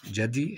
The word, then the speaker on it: جدي: جدي انه الجدي بس بنقول عليه طبعا جدي هكذا جدي جا جا جدي بفتح الجيم بعد ذلك هنا مسجد